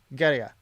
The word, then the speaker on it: Gaerea: properly, and they say Gaerea. It almost sounds like gay because they say it so quick. There's like no syllables, so it's just like Gaerea, Gaerea.